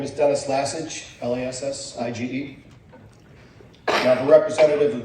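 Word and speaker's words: Lassige: Okay, and next speaker is Dennis Lesage. I pronounced that. Good evening. My name is Dennis Lassage, L-A-S-S-I-G-E.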